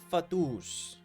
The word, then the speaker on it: Fatui: It's pronounced Fatus.